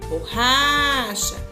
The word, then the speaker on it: borracha: Por exemplo, borracha. Se eu falar assim, borracha, qual sílaba que eu demorei um pouquinho mais? O ra. Então, a sílaba tônica da palavra borracha é ra.